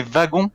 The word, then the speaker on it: wagon: Et pour moi, un des seuls que je connais, c'est wagon. Et ça se prononce avec un V.